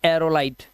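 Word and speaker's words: aerolite: एरोलाइट।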